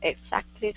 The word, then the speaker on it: exactly: Freeman said, that's exactly right. Okay, very good. Let's try this. Give me a little bit more K sound in that X.